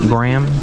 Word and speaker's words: Graham: it's First Amendment and how do you say it Graham like the cracker she's I can't even